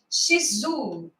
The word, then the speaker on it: Shizu: E hoje o nosso convidado é o Shizu. Vê se eu pronunciei certo. Shizu, tá certinho.